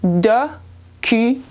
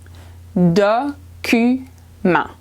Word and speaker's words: document: So in French, it's document. Document. The EN makes a sound A. The T is silent at the end, so it becomes document.